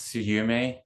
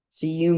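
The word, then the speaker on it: SUYUME: y capital u capital m capital E it's pronounced suum suum did I get it right yes Wesley holds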